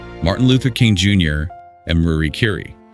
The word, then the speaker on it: Marie Curie: He mentions Michael Jordan, Martin Luther King Jr., and Marie Curie, though he pronounces it Mary Curie in the audio, which is unique. Mary Curie, yeah.